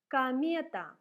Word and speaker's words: комета: Act, act, такт, такт, комета. O is read like A because it is not stressed. So we say комета, атака, атака, мама, mama.